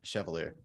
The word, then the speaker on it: Chevalier: want to miss say your last name Chevalier Chevalier okay and then musically though under the